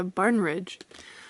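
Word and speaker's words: Barnidge: Yeah, Barnridge.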